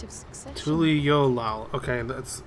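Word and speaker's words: Tuliyollal: about tul yolal and the right of succession tul yolal okay that's how it's pronounced since we still have a long way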